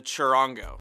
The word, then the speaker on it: charango: One of the most commonly used ones is the charango.